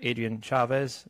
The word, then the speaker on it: Adrian Chavez: today we have a very special guest Dr Adrien Chavez did I pronounce that right yep you pronounced it correctly